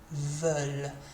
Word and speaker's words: veulent: We've got a little L in there though, veulent. That ENT is silent, remember.